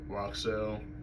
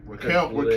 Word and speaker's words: Raquel: Judgment Day, in terms of Roxelle. That's her name, right? Did I say her name right? I mean, you looked it up in case. No, Raquel Rodriguez.